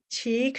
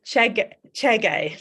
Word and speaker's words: Chege: So we're going to go to our next judge, which is Liz Cheek, who is a film program. Sorry, I got that. It's Liz Chege. Let me pronounce that correctly. Liz Chege, who is a film programmer, a critic, and a creator.